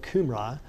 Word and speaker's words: Cambria: Sir John Rise, both countries, speaking of Wales and Britain of the Qumrai, were for some times called Cambria, pronounced as if spelled Qumrai.